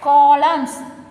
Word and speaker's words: column: Next, fourth one, rows and columns. What is the word silent here? Yes, N is silent, column.